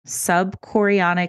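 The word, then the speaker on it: subchorionic: mom oh yeah oh my God question about sub chorionic hematoma is that how you say it yes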